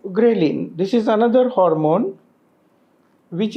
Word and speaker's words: ghrelin: so many other elements which balance it like ghrelin this is another hormone which is released in